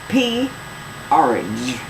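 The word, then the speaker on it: P-Orridge: long-term project turning himself into his late spouse porridge pronounce it wait it's p orage p like in P orage por p page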